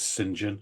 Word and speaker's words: St John: time Chris St John it could be singen if you're really par you pronounce St John as singen in this country it's a weird affectation but there you go